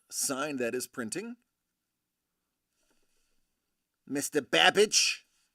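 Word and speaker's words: Babbage: that is printing Mr babage rhymes with cabbage synonymous with cheddar Essex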